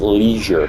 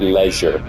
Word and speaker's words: leisure: It's pronounced leisure, not leisure.